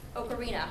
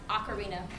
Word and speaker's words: ocarina: He called it ocarina, which I believe in Italian is pronounced ocarina, but if any of you speak Italian, you can correct me on this.